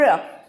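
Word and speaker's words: ऋ: जैसे अ, ई, छोटी ई होएगा, उ और र। री बोलते हैं इसको, री इसकी बोलने की साउंड होती है री।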